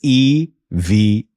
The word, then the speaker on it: EVA: E separate, V separate, A separate, just so you know. So there you go. Very clear on how to pronounce the airline name. It's EVA.